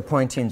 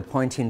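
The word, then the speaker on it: Poynting: to look at the pointing vector kind of interesting that this name rhymes with pointing sounds the same as pointing that is the direction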